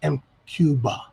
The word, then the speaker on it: MQBA: cuba cuba mqba but really it's supposed to be pronounced m cuba the ba ba bo